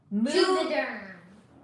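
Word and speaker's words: Juvéderm: So the first one, it's not Moviderm, it rhymes with Moviderm, but the first letter is J. Juvederm.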